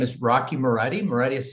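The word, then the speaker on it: Moretti: in my name is rocky marietti meredith is spelled m-o-r-e-t-t-i and i'm the director of policy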